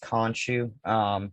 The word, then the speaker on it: Khonshu: And I always like kind of question, I think it's pronounced Khonshu.